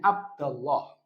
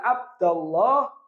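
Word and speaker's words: عبدَ الله: mana is mansubnya AB Abda Abda bacanya abdallah kenapa mansub lihat jatuh setelah alat panggilan I berarti disebut dengan apa munada disebut dengan munada karena jatuh setelah alat panggilan dan tanda nasabnya adalah fathah maka bacanya ya abdallah Abil ya Ini nomor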